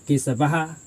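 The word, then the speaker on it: केशवः: हा होगा ठीक है जब हम उच्चारण करेंगे विसर्ग का तो आपका ध्वनि ह देता है जी क्या देता है जी ह देता है जी तो आपका हो जाएगा केसव ठीक है मतलब आपका लास्ट में ये आपका विसर्ग ह का उच्चारण देता है जी ठीक है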